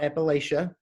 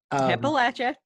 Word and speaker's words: Appalachia: old gods of appalachia it's not appalachia appalachia yeah you can't follow if you can't say it like that exactly yeah right